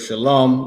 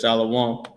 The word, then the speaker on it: shalom: Shalas the the word shalom that everybody mispronounces and says shalaw.